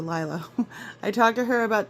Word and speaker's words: Liliah: Lyla by Mandy Manzano I know it's spelled like it would be Lilia but I promise Mandy calls it lla I talk to her